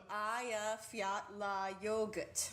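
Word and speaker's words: Eyjafjallajökull: air traffic as well as reporters who couldn't pronounce it the glacier is called Aya fettler Aya Fiat La yogurt just think of hey you forgot your yogurt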